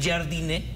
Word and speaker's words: Jardine: Jardine, que así se pronuncia el técnico de Brasil, clases de pronunciación hoy